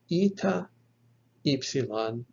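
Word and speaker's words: ηυ: a voiceless consonant and then ita followed by xilan will be pronounced so evie like in the word evil eve or if like it in the e-e-f in beef so ita ipsilan eve or if now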